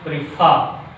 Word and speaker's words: prefer: The fourth rule is some disyllabic verbs. Some disyllabic verbs express on which syllable? Second syllable. Some disyllabic verbs which express on a second syllable.